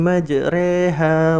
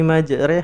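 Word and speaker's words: مجراها: Ada imalah itu memiringkan bunyi fathah pada kasroh. Dia nggak boleh. Kalau dia di Quran surat 11 ayat 41 juz 12 Quran surat Hud itu bacanya gini. Bismillahi majreha wa mursaha gitu. Kan di Al-Quran nggak ada kata cuman di ayat ini ya dibaca Bismillahi majreha, harus gitu.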